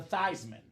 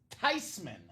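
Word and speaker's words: Theismann: of course it's tysman it's a German name how are people butchering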